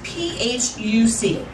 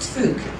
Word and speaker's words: Phuc: and her name was p-h-u-c and yes only um in baltimore could you have a name phuc that was not pronounced fuch and um so i